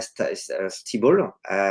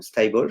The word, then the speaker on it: Stibal: Alors la fondatrice, donc c'est une femme, qui s'appelle, Diana Stibal, ou Steibel, je sais pas comment on prononce, donc c'est Stibal, C'est S-T-I-B-L.